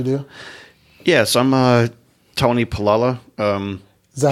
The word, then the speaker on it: Paolella: Yeah, so I'm Tony Paolella. Is that how you say it? Yeah. Yeah, I've heard Paella, Portillo, Palumbo, but it's Paolella. When I read it Paella.